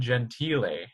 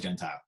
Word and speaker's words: Gentile: Yeah, you actually said the correct Italian pronunciation too, Gentile. It's Gentile here in America, but I think it's truly Gentile.